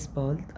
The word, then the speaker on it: bald: bis später، bis bald، bald مش bald لا bald عشان الدي في الآخر نطقها تي.